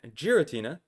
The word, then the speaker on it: Giratina: I think that giritina with a J sound, much like the word gy, gy is also an appropriate way to pronounce the Pokemon.